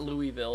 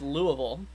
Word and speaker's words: Louisville: I said it wrong not Louisville it's Louisville I haven't said it